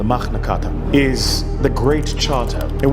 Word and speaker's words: Magna Carta: the magnata or as it's pronounced in Latin the magnata is the great Charter